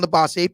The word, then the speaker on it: Labossiere: And so to help me remember his name and say it correctly, I came up with a little mnemonic, which was Stefan Labossiere, Pastor Cavassier.